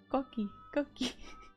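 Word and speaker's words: coquí: Pronounced Koki, yeah.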